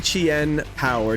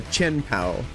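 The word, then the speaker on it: Chien-Pao: He has the Chien power, Chenpow, uh, depending on how you say it.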